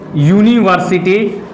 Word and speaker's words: university: जैसे में आप देख लीजिए यूनिवर्सिटी, UNIVERSITY, इसका देखिए उच्चारण क्या हो रहा है? यूनिवर्सिटी। ठीक है बाबू, देखिए तो पहला अक्षर क्या है? पहला उच्चारण य है।